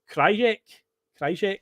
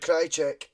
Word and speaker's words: Krajicek: Richard Krajicek, was it? Richard Krajicek. That's how everyone called it at the time, Richard Krajicek.